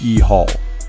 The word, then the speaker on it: Yahweh: made it up phonetically the Y is sounded as e it's also the same